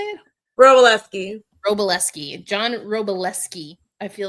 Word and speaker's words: Wroblewski: I think that, because John Wroblewski, I feel like I always say his name wrong, but Wroblewski. How do you say it? Wroblewski.